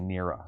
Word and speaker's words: Nera: to think of it it's actually nera i've been saying it wrong okay begin this game